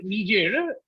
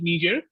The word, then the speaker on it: Niger: modifies southern egypt right this country is called niger and i it's not nigerian niger okay it's a best it's a french colonies it pronounced it niger and very next right next to nigeria both of them are